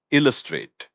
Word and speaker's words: illustrate: Illustrate. That's i l l u s t r a t e pronounced a straight with the accent on the first syllable.